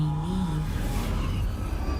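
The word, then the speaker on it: Niamh: I am here, in this place, You may call me Neve. Oh, that's how you pronounce it.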